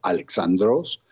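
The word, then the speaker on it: Αλέξανδρος: En adición al nombre de este famoso monarca, que por cierto en griego se pronuncia Alexandros, también encontramos antígonos, dositeos,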